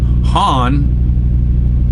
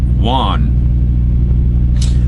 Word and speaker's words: Juan: Mike A from Texas says, hey Larry, FYI, any Spanish or Hispanic name like Juan, the J is pronounced with an H sound. So that would be Han, not Juan.